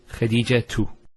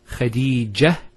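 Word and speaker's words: خديجة: And thirdly, if you actually pronounce the last letter with the harakah, so for example, say when say Khadija 2. Notice Khadija 2. We pronounce the ta. If we stop at the ta, Khadija, it's a ha.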